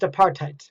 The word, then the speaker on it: apartheid: government policies this was called apartheid pronounced apartheid in 1948 this began